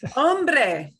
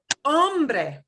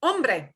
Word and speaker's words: hombre: can use that word the next one is one that that poor donald trump cannot pronounce correctly ombre unfortunately the hollywood has destroyed americans ability to say this word correctly because all movies about the old west all the actors mispronounce this all the time which is why americans mispronounce this word and then they're saying